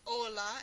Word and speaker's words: hola: noche chimichanga chimichurri etc the letter h in spanish is silent the h at the beginning of these words so this first word is ola instead of hola it's ola ombre and amborge the